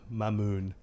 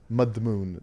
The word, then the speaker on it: Madmoun: Every Arab speaker has just shuddered with your pronunciation of trachei and mammoon. Mudmoon.